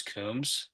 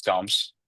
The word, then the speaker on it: Coombes: need to know because I hear some people refer to your last name as kums and now they refer to you as coms so what's the correct pronunciation of your name it's CS it's coms all right so get it